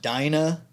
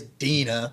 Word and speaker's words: Dena: not Dinah.